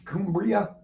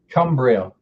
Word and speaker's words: Cumbria: you got where the is kumbria how the hell do you pronounce that cumbria i was close it used to be cumbria